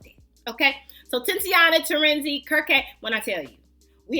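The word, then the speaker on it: Kirke: game section anyway so this is actually pronounced kir is is what I cuz I asked him I said now is it Kirk or what what is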